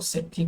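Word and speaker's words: सेट्ठी: श्रेष्ठी। और पाली भाषा में इसको सेठी कहते थे क्योंकि श्र का उच्चारण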